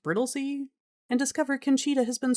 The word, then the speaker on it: Brightlingsea: They meet Lord and Lady Brittley, spelled Brightling Sea but pronounced Brittley, and discover Kena has been struggling to fit in, unhappy with her new life among the stuffy London elites.